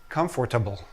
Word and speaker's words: comfortable: many students say comfortable, I've heard many students say comfortable.